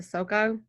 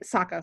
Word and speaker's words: Sokka: Scott, can I just give to give a quick shout out to Sooka. I always forget how to actually say his name, because he has no powers. Yes. Sokka is awesome. And Sokka, sorry, yeah.